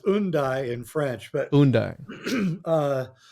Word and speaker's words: Hendaye: uh, I like to say Hendaye because I think it was because if you know your British form of pronunciation, you drop the H at the beginning of the word.